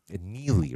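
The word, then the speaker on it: Neagley: him and neie uh neie right you don't pronounce the G uh him and and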